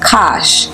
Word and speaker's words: Kush: Historically, Kush is spelled beginning with a C or a K, and alternatively pronounced Kash, K-A-S-H, as he was called in Hebrew, as Kash is the